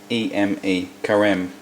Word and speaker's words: Carême: We're going to use this pastry as I spoke about before, and I think the pronunciation is carême. C-A-R-E-M-E, carême.